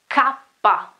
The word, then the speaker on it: kappa: Then the key is also, well, normally people understand key, but the name, okay, is kappa, kappa, it is kappa.